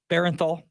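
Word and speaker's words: Bernthal: Oh, Barenthal.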